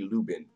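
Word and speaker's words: Lublin: of my comments that this is how you say it you say lubin lubin lubin so that l doesn't exist yes got it you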